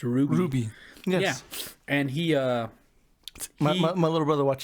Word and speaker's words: RWBY: a show called rwby which is pronounced ruby yeah and he uh